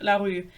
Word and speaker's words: LaRue: I've never seen a single person call it larue, which is the correct pronunciation, but I'm not here to do that.